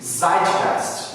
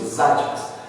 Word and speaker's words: Zeitgeist: Tem uma palavra em alemão, a palavra eu acho que pronuncia assim, Zeitgeist, eu acho que é assim que pronuncia, Zeitgeist.